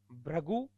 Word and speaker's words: भृगु: अब इनमें उच्चारण गलत कर देते हैं अपन, इसलिए ये त्रुटियां होती है।